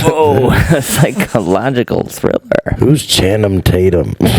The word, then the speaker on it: Channing Tatum: Who's Channing Tatum? Channel Tatum. Oh, did I fuck up the name? No, Channing Tatum.